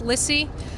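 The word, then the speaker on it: Lisi: ly lissy I'm sorry L II it's pronounced lissy special agent in charge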